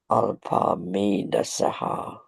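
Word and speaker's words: अल्पमेधसः: Alpa Medasaha. It's a saha, not a shaha.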